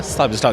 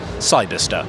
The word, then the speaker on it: Cyberster: pronunciation of the word Cyberster. Cyberster? Cyberster. Because the temptation is to kind of turn it into a star at the end, isn't it? But Cyberster.